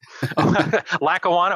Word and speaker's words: Lackawanna: Can pronounce it. Lackawanna.